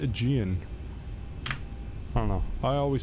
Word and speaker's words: Aegean: isn't it crazy how it looks like aigan but it's actually aegean i don't know i